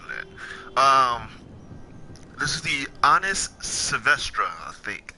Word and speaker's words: Savestra: This is the Honest Savestra, I think. The Savestra? Yeah, that's how you say it.